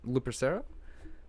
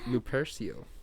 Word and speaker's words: Lupercio: this is i never knew how to pronounce your last name lupercera what lupercio yes repression yes that's how you pronounce it